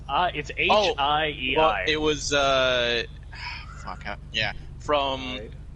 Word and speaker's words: Hiei: is Hiei. That's how it's Hiei, yeah.